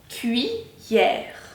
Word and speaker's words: cuillère: Cuillère. Dans ce cas-là, le I, on peut l'entendre, et permet aux deux L de faire le son ie. Cuillère.